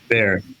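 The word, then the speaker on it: Behr: And how do you pronounce the name of the app? It's B E HR. Bear.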